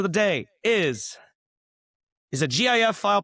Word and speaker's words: GIF: Lee, the random question of the day is is a GIF file pronounced gif or jif? It's definitely gif and anybody who says it's jif is is fundamentally wrong My my man.